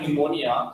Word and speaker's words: pneumonia: She had pneumonia. Pneumonia is a kind of disease. Okay, you know very well. You have read in science. How to learn the spelling pneumonia? See here, P which is silent, N-E-U-M-O-N-I-A, pneumonia.